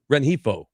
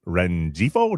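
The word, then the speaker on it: Rengifo: How do you say his last name? Renhifo. That's impressive cuz I was like Renieo. Nope.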